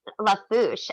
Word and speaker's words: Lafourche: again buy you that's the easy word lafourche la fouche l-a-f-o-u-r-c-h-e and what does that mean i i pronounced it correctly though i'm so ashamed